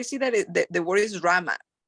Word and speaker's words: Rama: becomes Rama okay but Ram is how the Sanskrit pronounce it is so when I'm saying Rama Rama right so it